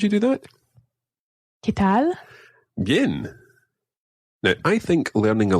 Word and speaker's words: bien: The first one that we're going to learn is bien.